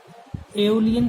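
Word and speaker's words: Aeolian: अलग अलग तरीके से लोग इसको प्रोनाउंस करेंगे, कोई कुछ बोलेगा, कोई कुछ, तो इसको एओलियन सॉइल बोलते हैं।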